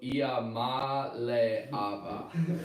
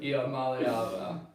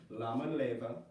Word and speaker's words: Iamaleava: I'm being told that Nico's name is pronounced Nico Iamaleava. Iamaleava. Does not roll off the tongue like Ali Yes, Baba, I unfortunately. pronounce it Lama Leva, but that is wrong because it's That is very wrong. That's very wrong because there's an I, not an L, as the first letter.